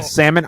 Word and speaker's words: salmon: caught caught red-handed Salman some people say Salman salmon I say no silent L is actually reasoning why I